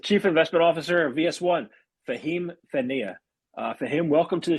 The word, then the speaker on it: Fehmi: My name is Fehmi, not Fahim, or Fehmi for those who cannot pronounce the H.